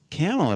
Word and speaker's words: Kamala: this time I've been saying it wrong it's it's it's camela about these people who